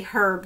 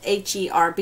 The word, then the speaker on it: herb: herb appeal herb appeal i want to say herb because h-e-r-b even though i know it's pronounced herb so these are the two this